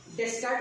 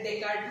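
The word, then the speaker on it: Descartes: तर त्यातले मोस्ट सगळ्यात पहिला एक लाईटसाठी एक थिअरी मांडलेली रेने डेस्कार्ट म्हणायचं नाही, डेकार्ट म्हणायचं त्याला. स्पेलिंग आहे DESCARTS पण डेकार्ट प्रोनाउन्सिएशन आहे त्याचं.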